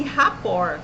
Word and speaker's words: rapport: A técnica chama-se rapport. Se escreve rapport com T mudo e 2 P's.